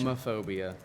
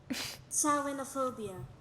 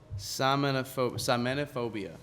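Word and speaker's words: Samhainophobia: I want to pronounce this. Samophobia.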